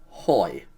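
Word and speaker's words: οἱ: the second declension okay omicron yota but with the rough breathing mark it's pronounced hoy so the nominative in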